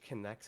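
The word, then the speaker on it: K'Nex: Yeah, search Kinex. It's spelled Knex.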